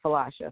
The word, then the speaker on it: Philautia: Yeah, it's spelled, for those that don't know what she's saying or what I'm saying, it's spelled Philautia. And it's Phalasha from what we know.